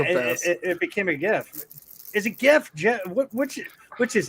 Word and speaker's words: GIF: Yeah, the creator says it's pronounced GIF like the peanut butter, and the creator's fucking wrong.